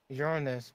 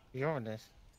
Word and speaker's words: Uranus: be able to see Uranus. Don't you mean Uranus? That's the incorrect way to say it. What do you mean? It's always been Uranus.